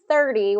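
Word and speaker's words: thirty: and the T sound 30 30 with the th sound versus turd yeah tury right y 30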